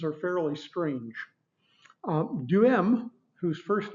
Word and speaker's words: Duhem: He gets mentioned a good bit in our textbook, and it's pronounced Duhem.